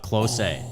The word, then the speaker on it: Klose: It is Miroslav Klose. Yeah. Yeah, that is. He played a lot of games for a lot of good German teams. See, he commented, and I would have totally pronounced it close.